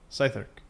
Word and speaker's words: Southwark: So someone told me how to pronounce this, so it's not Southwark, it's Southwark? Southwark? Southwark.